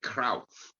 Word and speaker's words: Cruyff: It is actually Cruyff, if you want to be absolutely, correct in the pronunciation.